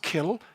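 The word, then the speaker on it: cill: Gaelic would they say the same word is pronounced kill but it's spelt in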